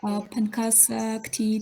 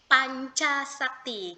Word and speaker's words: Pancasakti: Pankasakti Tegal. Iya, in here C is the kita bacanya itu dibacanya itu we can spell C is C Pancasakti.